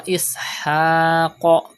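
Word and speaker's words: إسحاق: Wa Ishaq. Pronounce Qaf with thicker voice because it is from Mustaliya letters.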